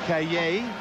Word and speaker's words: Cayer: I call him Cayer. He says, no, that's not how you say it. It's a French name, Cayer.